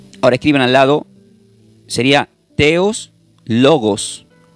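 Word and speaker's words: theos: viene del griego y se pronuncia como teos Pero se escribe la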